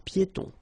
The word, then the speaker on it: piétons: Final S here not pronounced and then final E not pronounced. Un passage pour piétons.